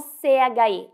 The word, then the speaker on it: che: Olha só o CHE, ele tem o mesmo som que o QUE.